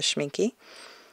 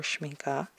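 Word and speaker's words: Schmincke: A little bit more gritty than the Blue Earth or the Schminky. Or Schminka. I've heard it pronounced both ways.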